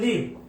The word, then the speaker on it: live: সো লাইভ এখানে verb, এখানে লাইভ না লিভ, লিভ মানে হচ্ছে বাস করা। উচ্চারণটা লাইভ না, উচ্চারণটা হবে লিভ।